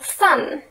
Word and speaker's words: thumb: People stopped pronouncing the B at the end of thumb and climb.